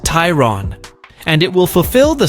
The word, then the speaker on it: Tayron: an entirely new model called the Tron pronounced Tyron and it will fulfill